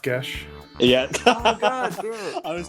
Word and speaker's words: Geis: Alexis Deacon's Euro comic come tournament manga it's pronounced GES yeah oh God I was just about jump